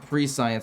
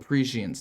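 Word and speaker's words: Prescience: it's that it's unfortunate I know it's not called pre-science somebody told me what it was called apprecience this card is called parisians not pre-science look it's spelled pre-science don't judge me I know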